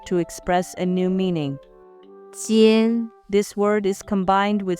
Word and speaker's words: 尖: 一安烟鸡烟间尖 This word is the first tone, so it should be 间 The origin of this character.